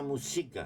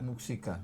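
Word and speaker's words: Muxika: Hay un municipio que se llama Muxica. Muxica, sí, su apellido.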